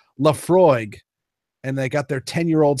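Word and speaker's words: Laphroaig: But I settled on, I went over to the Scotch section and I saw this, I believe it's pronounced Lafroig, and they got their 10-year-old single malt.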